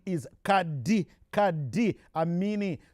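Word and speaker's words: Qad: his proper name is Kad Kad amini spelled q a d but pronounced Kad am me is right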